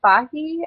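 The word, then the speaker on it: Fage: preferred Greek yogurt um I like fahi I believe it's how you pronounce it um I think uh f a g e um I'm also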